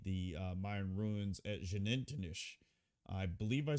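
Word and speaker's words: Xunantunich: And they said in Mayan the X is pronounced like sh. So, it's like Shannonish.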